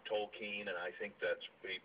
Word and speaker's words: Tolkien: well that's how that's how Douglas gram right pronounced is uh the name tol keen and I think that's Prett good source yeah